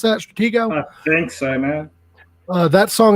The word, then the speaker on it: Stratego: of that song stretch stratego here's how you pronounce that stratego thanks man uh that song and we're also